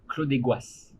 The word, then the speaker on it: Clos des Goisses: So that's what we saw yesterday, and I always pronounce this incorrectly. Cloche. Clos Clos de Gloire. Clos des Goisses.